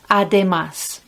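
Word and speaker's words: además: more you can say ademas look it's got the accent on the ah ademas and i have to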